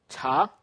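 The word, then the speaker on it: 茶: This cha, this CH in Chinese. So the CH here, the sound of the CH, I said it's almost like in chip, but it should be aspirated. It's harder.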